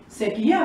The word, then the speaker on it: sekia: Sekia, very good. Yeah, Sekia. it's not really a real word. We would have two pronounce this one and that one. Two stress on sekia. Yeah. So it's two syllables.